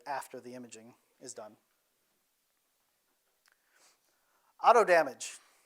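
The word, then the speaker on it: AutoDMG: the Imaging is done Auto damage it's exactly how the developer wants it pronounce is auto damage uh it takes an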